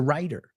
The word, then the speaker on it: writer: He's a writer. He writes. Say it with me. Now, Americans say writer. You notice it's a D sound.